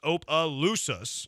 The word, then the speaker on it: Opelousas: No, you still don't have it right, but it's okay. It's pronounced Opelousas.